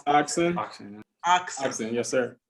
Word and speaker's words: Oxyn: Soft Fed or It's Oxen. Oxen? Oxen, yes, sir. How do you spell that?